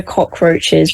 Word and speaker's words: Kokroachez: Facebook I think and we're the Cockroaches but it's spelled like K-O-K um and we've also